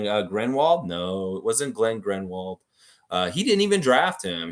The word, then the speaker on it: Glenn Grunwald: No, it wasn't Glenn Grenwald. He didn't even draft him. He was way before Bosch came. He was in the Vince Carter era. More Glenn Grunwald. Glenn Grunwald. Nice pronunciation.